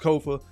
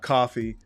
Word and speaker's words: Kofa: I am your humble host, Kofa. K-O-F-A, not coffee, not, not Kofi, or any variation thereof. Kofa rhymes with sofa, easy to say, easy to spell, right there on the screen.